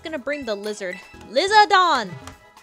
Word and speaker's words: Lizardon: bring I'm just going to bring the lizard lizardon it's what it's called in the Japanese anime lizardon lizardon I don't like shiny Espeon oops